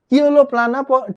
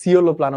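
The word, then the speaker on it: Coeloplana: আর যখন সি উচ্চারণ হয় তখন উচ্চারণ হয় হচ্ছে ক, কিওলোপ্লানা। ঠিক আছে, বা যায় সিওলোপ্লানা উচ্চারণ করতে পারলে করতে পারো, সমস্যা নেই, বাট নাম মনে রাখতে হবে।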